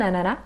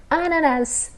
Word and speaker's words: ananas: ananas, ananá, ou un ananas, com o S. No Quebec, principalmente, a gente nunca pronuncia o S. Na Bélgica, é mais pronunciado o S.